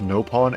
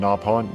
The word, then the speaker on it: Nopon: and they have unironically called it both Nopon and Napon, not knowing that the two different pronunciations are both cannon.